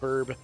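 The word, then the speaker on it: birb: Kind of a misspelling. Burb.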